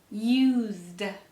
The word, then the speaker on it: used: baby was asleep use used notice the S is pronounced like a Z please use the side